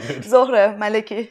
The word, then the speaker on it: Zohreh Maleki: I'm pronouncing your name correctly. Yeah. Zohreh Maleki.